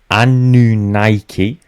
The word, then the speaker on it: Anunnaki: Anunnaki. That's how apparently we want to pronounce that. I'm going to pronounce it the Anunnaki.